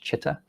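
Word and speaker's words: citta: Um so spelling is ci although it is pronounced in English chitta.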